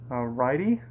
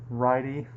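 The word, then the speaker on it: Ridey: the other is named righty I think I'm pronouncing that right it's RI d ey I've never heard of that name before but it's a righty anyway so what they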